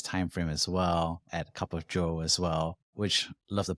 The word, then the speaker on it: Cup of Zhou: writing during this time frame as well at cup of joe as well which love the pun there as